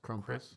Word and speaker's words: Krampus: it was like a um how do you pronounce that? It's like the evil version of Santa Claus. Crumpus.